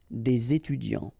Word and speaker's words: des étudiants: So it starts with a vowel, so you should make the connection, the liaison between the two, des étudiants.